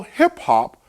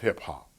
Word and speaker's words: hip hop: the term hip hop, it, hip hop, is pronounced with alterations of lighter and heavier vowels: drip drop, tip top, flip flop, hip hop.